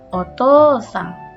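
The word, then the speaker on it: お父さん: Di tengah-tengah ada u, maka O ini dibacanya panjang. Otosang.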